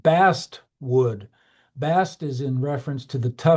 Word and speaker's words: basswood: It's called basswood sometimes, and that word basswood is actually kind of a mispronunciation of bast wood.